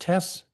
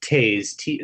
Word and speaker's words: Taze: Will Tess, is it pronounced Tess? It's actually pronounced Taze. Like think of T-A-Z-E.